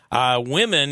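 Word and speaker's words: Wimmen: The other thing is, I found Like swimming without the S? Swimming, but it's women.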